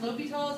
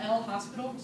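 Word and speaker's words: L'Hôpital: our book uses the S either way it's pronounced lals it is not l hospital rule so sound foolish if you're walking around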